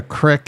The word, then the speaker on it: crick: Who knows what a crick is? That's how it's pronounced, crick.